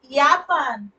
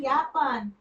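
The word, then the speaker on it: Japan: से चालू होता है यापान यापान मतलब जापान ओके तो यट है ना जे मतलब यट होता है ना जे को यट बोलते हैं जर्मन में इसलिए इसका उच्चारण यापान हो गया ओके फिर आगे का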